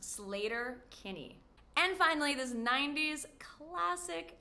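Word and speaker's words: Sleater-Kinney: This American rock band, known for their feminist lyrics, is pronounced Slater Kinney.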